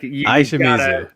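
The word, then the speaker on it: Ai Shimizu: Aishimizu. Aishimizu. And that's just say I. I always want to say AI or Yep. AI. It's like nope, it's Aishimizu.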